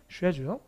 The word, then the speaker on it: schedule: 스케줄이 영국 가면 쉐줄이에요. 이런 건 따로 외우셔야 돼요. 스케줄이 쉐줄.